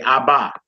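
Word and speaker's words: אבא: alright so this first this first word we in the Hebrew community said I buy even though based off the rules it is we would just be saying ha we say I buy I bought was meaning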